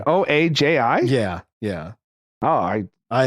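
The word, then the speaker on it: Ojai: I think it's I think that's pronounced O A ji yeah yeah oh I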